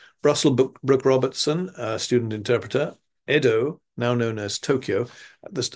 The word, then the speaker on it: Edo: resided in Kyoto uh so yedo uh should really be pronounced Edo even with the Y I think um GC